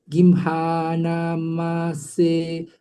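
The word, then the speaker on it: gimhānamāse: And then here, little bit here, we have, okay, line number 2, you have forgotten to use a long A there.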